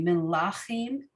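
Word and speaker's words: מלכים: And in Hebrew, the traditional syllable emphasis is in this case, in this word, it'd be melachim. So it's often the second or third syllable of a word. It's very rarely the beginning of the word.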